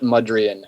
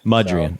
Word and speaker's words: Mudrian: Um, but it's Albert Mudrian. Mudrian.